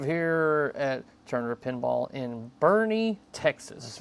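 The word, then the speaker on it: Boerne: And then I'll type it into Google Maps and it's like Bernie. I'm like, "Oh, that's right. I forgot it's pronounced that way."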